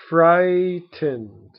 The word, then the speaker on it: frightened: or scared is frightened fright ened okay and be careful again frightened also has many silent letters silent letter so frightened frightened okay next